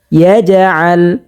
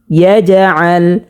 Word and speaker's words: يجعل: প্রিয় দর্শক, এখানে কিন্তু আরেকটা কায়দা হয়েছে, সেটা হচ্ছে কলকলা হয়েছে। কলকলা হরফ হচ্ছে 5টি, কফ ক বা জিম দাল। তো আমরা এখানে 5টি হরফ থেকে একটি হরফ জিম পেয়েছি, হরকতের বামে জিমের মধ্যে জজম পেয়েছি, সে কারণে এখানে কলকলা করে পড়তে হবে। যেমন ইয়াজআল, কলকলা মানে একটু ধাক্কা দিয়ে পড়া।